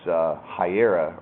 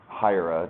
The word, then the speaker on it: Hiera: This is a quick example of how you might use Hiera or Hiera, depending on your preferences for pronunciation, to have an external file that all your secrets are kept in.